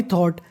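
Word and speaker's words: thought: अब देखिए जो आगे वाली मीनिंग है उसके आखिरी में लिखा है GHT। अगर आपको इंग्लिश में GST लिखा मिले तो उसे पढ़ना है टा, और शुरुआत में लिखा है THOU, इसे पढ़ना है थॉ। आई थॉट, कल मैंने सोचा।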